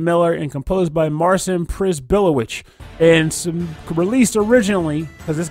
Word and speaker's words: Przybyłowicz: And the track is titled Blood on the Cobblestones, composed by name I'm going to mispronounce, Marcin Przybyłowicz. Nailed it. I'm going to tell you right now, you nailed it. Przybyłowicz.